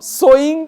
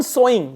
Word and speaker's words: sewing: the title is home sewing Revival Home sewing this word is so s e w s o w both are pronounced as so Home sewing Revival means